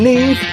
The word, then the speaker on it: Neve: Along with Neve, that rhymes with Steve.